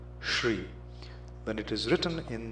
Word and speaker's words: Shri: that is mispronounced is Shri it's a palatal sound sh r e Shri when it is written